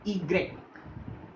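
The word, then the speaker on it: i grec: इसकी सबसे अलग प्रोनाउंसिएशन होती है, जिसे हम बोलते हैं ईग्रेक, ईग्रेक, मीनिंग इसका एग्जाम्पल लिया हमने युक्स, युक्स।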